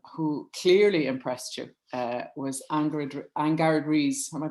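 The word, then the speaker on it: Angharad Rees: Now, another woman celebrity this time who clearly impressed you was Angard Rees. Am I pronouncing that correctly? I am, I think. Angard Rees, yes.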